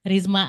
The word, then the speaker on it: Rizma: Like the how you pronounce it will be Risma Adlia Shakurah.